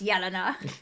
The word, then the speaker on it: Yelena: as gets really annoyed my name's obviously Yelena but people Mis pronounce it incorrectly and as will immediately be like it's Yelena I just let it go